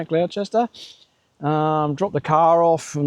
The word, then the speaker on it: Gloucester: We drove up to Drifta from Sydney and they were in Gloucester, I think how you say it, Gloucester.